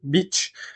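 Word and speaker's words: Bich: Bic est officiellement déposée tiré du nom de famille. donc de Marcel Beach mais sans le H pour éviter la mauvaise prononciation en anglais.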